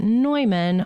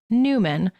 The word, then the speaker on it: Neumann: on saint john newman most people outside of philadelphia pronounce it neumann but in philly it's newman so we went with